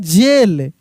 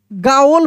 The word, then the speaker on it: gaol: जैसे अगर लिखा रहे GAOL, अब आपके अनुसार इसको क्या पढ़ेंगे। आप जब इसको पढ़ेंगे तो बिल्कुल गलत प्रोनाउंसिएशन आप कर देंगे। इसको पढ़ते हम लोग, याद रखिएगा, इसको हम लोग पढ़ते हैं जेल। क्या पढ़ेंगे, इसको हम लोग जेल पढ़ेंगे।